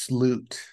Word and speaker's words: slut: I think it's sloot. Oh, sloot. Okay. Yes. Yeah. Extend the ooh part, the U. Put a little umlaut over it. It's sloot. Because I have a theory on what I think this song is.